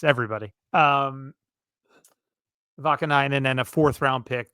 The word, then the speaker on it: Vakanainen: to Anaheim for Urho Vakanainen, which is, I believe, how you say his name. Definitely his last name. I'm not sure about the Urho or Urho, but let's call him Urho Vakanainen.